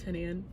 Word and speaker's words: Hanan: oh by the way my name is Hanan I did not mention this that's how you pronounce my name honey um thank you